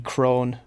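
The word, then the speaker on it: Krone: a specific trailer from the crone oh i think that's how you pronounce it spelt k-r-o-n-e and trailer depot place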